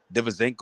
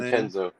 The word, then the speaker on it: DiVincenzo: Poole, fucking Divizenko, or how you pronounce his name? DiVincenzo.